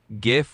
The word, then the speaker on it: GIF: Well, I personally say GIF with a hard G, like gift without the T, but honestly, you can say it however you like.